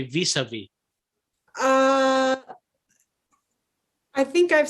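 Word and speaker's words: vis-à-vis: I definitely don't pronounce the second S though.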